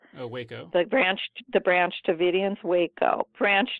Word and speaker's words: Waco: Well, I had actually forgotten until, and I don't even know how to pronounce this word, Wacko? Oh, Waco.